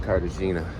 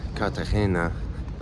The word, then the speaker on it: Cartagena: Well, woke up today in Cardagina. Yeah, I'm going to call it Cardina, you know, cuz I was thinking about this. Obviously, I know that it's called katahena, but you know, it's not really worth trying